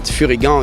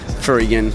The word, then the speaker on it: Furygan: But Furygan is the way you pronounce in France. But here, on the GP and international, Furygan, yeah.